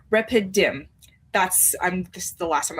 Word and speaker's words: Rephidim: this place and it starts with an R, Rephidim.